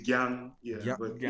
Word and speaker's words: Gyang: It's Gyang. I'm sure it's hard for you all Americans to say Gyang.